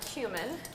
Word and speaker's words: cumin: Now we're going to do a fourth a teaspoon of cumin. And I always wondered, how do you say that, cumin or cumin? Turns out you can say it either way, so you're never wrong.